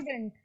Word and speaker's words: student: Which will be stressed? Stew. Correct? Stew. Yes. And will be unstressed.